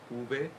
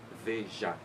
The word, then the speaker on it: Veja: Veja se escribe V-E-J-A, Veja, así es la pronuncia en portugués, Veja.